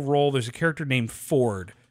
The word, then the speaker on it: Fjord: Yeah, fjord, although it's pronounced Ford, so, but like, that's a half orc character.